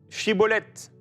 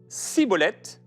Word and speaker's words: Shibboleth: S'il disait, au lieu de « Shibboleth », « Siboleth », parce qu'ils n'arrivaient pas à le prononcer comme eux, ils le saisissaient et l'exécutaient près des gués du Jourdain.